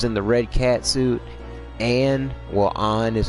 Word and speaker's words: Ann: So like for instance, the girl that was in the red cat suit, Anne is how it's pronounced.